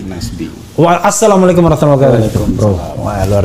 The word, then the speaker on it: Nasbi: Nasbi ya bukan Nasbi. Nasbi.